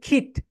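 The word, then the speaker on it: kit: ওকে, নাও যেটা সেটা হচ্ছে খিট। এই যে করোনা ভাইরাসের সময় কি বলছো সবাই সবাই, স্বাস্থ্য মন্ত্রণালয় থেকে সব জায়গায় কিট কিট কিট। ভাই, বিবিসি সিএনএন কখনোই কিট বলে, তারা খিট বলেছে।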